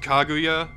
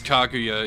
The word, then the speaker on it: Kaguya: crazy he was fighting kakya as well or kaguya which one's right it's called kaguya but because kakuya is such a childlike Spirit she can't say it correctly so yeah oh okay